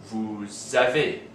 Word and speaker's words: vous avez: have this situation where, because the verb starts with a vowel, the S of the word before it is pronounced as part of that word with the vowel. So we have nous avons, vous avez, and ils ont.